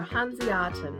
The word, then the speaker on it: Hanseaten: a German cookie recipe for hanatan that's how it is pronounced and these are from